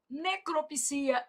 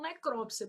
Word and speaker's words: necropsia: Misantropo, filantropo, exegese, necropsia. Esse daqui, alguns dicionários já aceitam necrópsia, por isso que eu tô colocando até um uma asterisco aqui para você, tá?